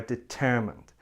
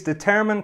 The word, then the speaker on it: determine: review before we finish don't say determine say determine determine we need more time